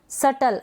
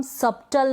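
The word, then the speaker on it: subtle: सटल, अब इसको हम सबटल नहीं पढ़ रहे हैं, हम पढ़ रहे हैं सटल।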